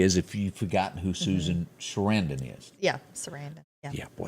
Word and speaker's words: Susan Sarandon: Susan Sarandon.